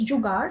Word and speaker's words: Jugaad: Now, the way it's pronounced is Jugaad, so there's like an R, and Tom, you perfectly pronounced it, so I'm so happy. So the word, it's a Hindi word.